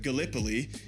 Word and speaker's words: Gallipoli: right because being from Iowa I said uh Galipoli and it's it is pronounced Galipol. Long story short Gallipoli is covering the Ottoman front, the Eastern front throughout all of this.